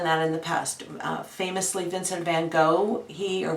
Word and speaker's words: Vincent van Gogh: in the past famously Vincent van Gogh he or Vincent van Gogh as he pronounced it in in Dutch he would he had